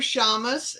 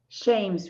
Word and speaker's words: Shames: Our first two guests are Shamus. Is that pronounced right? Shames, Rita. Thank you.